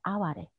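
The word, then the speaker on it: 哀れ: Hare 啊啊 Hare 发音以后呢，会缩短，把啊去掉一个，叫成为啊哈嘞啊法嘞，然后又发生语变。那就变成阿瓦嘞，我们现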